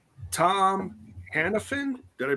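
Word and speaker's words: Hannifan: let me read my notes here it's tom hanafan did i pronounce hiddleston no hannah fan that's what i was saying hannah fan hannah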